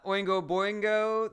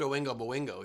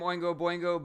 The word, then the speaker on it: Oingo Boingo: it's so weird that jared pronounced everything so well except oingo moingo he's totally butchered uh ellie mae's also